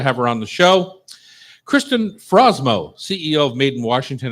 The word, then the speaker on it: Kristin: two rules did I say your name correctly Kristen oh okay good geez tough it's early it's